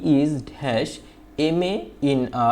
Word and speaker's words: MA: তারপর হচ্ছে দেখো এখানে আরেকটা সংক্ষিপ্ত ফর্ম দেওয়া আছে MA, এখানে আমি একটু দিয়ে দিই MA। দেখো এই যে MA, এই যে এম উচ্চারণটা দেখো এ উচ্চারণ হয়েছে, একটা ভাওয়েল সাউন্ড হয়েছে, যার কারণে এইখানে আমরা এন ব্যবহার করে কি ব্যবহার করছি, এন ব্যবহার করছি।